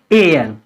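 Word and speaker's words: heir: इसमें भी H silent रहेगी, इसको हम क्या पढ़ेंगे, एयर, एयर।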